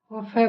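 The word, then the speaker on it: cough: जैसे देखते हैं टफ, टफ में जी एच को फ बोला गया, टी ओ यू जी एच, टफ। फिर कफ, सी ओ यू जी एच, यहाँ जी एच को फ बोला गया।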